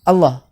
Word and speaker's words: Allah: ya salah ya karena lafadz Allah itu mau dalam sholatmu dalam zikir mau dalam baca Quran dalam apapun dalam keadaan apapun itu sudah mau ketetapan bahwa dia dibaca panjang minimal dua harokat karena ada huruf b nya disitu ya sebagai Mato by atau memang tabiat orang Arab itu membacanya membacanya panjang dan tidak boleh dibaca ringkas kalau dibaca ringkas amukan